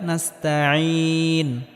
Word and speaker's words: نستعين: এখানেও আইনটিকে গলার মধ্যে হালকা চাপ দিয়ে উচ্চারণ করতে হবে। ইয়াকা না'বুদু ওয়া ইয়াকা নাস্তাঈন নাস্তাঈন ইয়াকা না'বুদু ওয়া